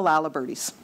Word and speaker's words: Laliberté: all answer questions so I'm gonna pronounce la liberté the way that they pronounce it at home I'm from Saskatchewan and I know a lot of the laliberté family that's how they pronounce their name I actually never realized it was la liberté until I came east of course I can read but I just I'm used to the Laliberte so this is this